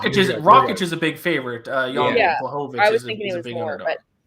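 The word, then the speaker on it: Rakić: Rancic. Rakic.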